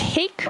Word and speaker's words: hake: You don't know fish other than, is it pronounced hake or hockey? Hake, like cake.